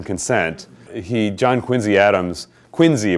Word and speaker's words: Quincy: he John Quincy Adams Quincy by the way not Quincy if you live if ever live in Massachusetts you will discover that that name is pronounced Quincy I lived on Quincy Street so I I learned it well but who was Secretary